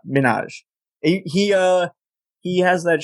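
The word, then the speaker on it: Minhaj: hell that is because you're not pronouncing his name right I think it's just Hassan Minaj he uh he has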